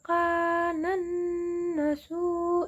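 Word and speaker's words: كَانَ النَّاسُ: Selanjutnya ada Quran Surat Yunus ayat 19 yang bunyinya wa ma kana, benar-benar, wa ma kanan nasu illa. Kanan nasu itu kan ada nun bertasydid, jadi dibacanya kan dengung. Kanan nasu illa.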